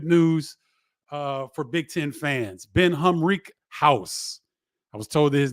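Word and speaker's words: Ben Humrichous: Ben Humrickhouse. I was told that his name is pronounced Ben Humrickhouse from Evansville, commits to Illinois.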